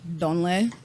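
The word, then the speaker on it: ndolé: I would say the number one, you ask somebody, this my favorite, is donle. It's spelled N as Nancy, Dole.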